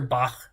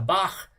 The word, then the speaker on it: Bach: but there's this composer Bach right b-a-c-h and that CH at the end of his name is pronounced uh with a Velar fricative so English doesn't really